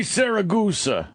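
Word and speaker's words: Siragusa: Tony Saragusa, right? Yeah. Tony Saragusa.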